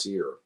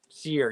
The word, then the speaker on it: Cyr: on orchid colored vinyl i think it's pronounced seer seer yes here cyr's here yeah